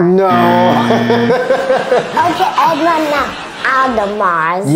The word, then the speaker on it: Audemars: Audi Mars. No. Okay, Edmond, no. Audemars. Yeah, but don't pronounce the S. Okay, donc ici c'est Audemars.